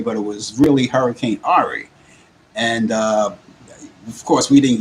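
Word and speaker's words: Henri: I pronounced it Hurricane Harry, but it was really Hurricane Ari.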